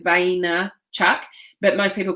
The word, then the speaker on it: Vaynerchuk: is Gary it's pronounced and Vaynerchuk that's how it's spelt most people say bando Chuck but it's vain Chuck but most people call him Gary B okay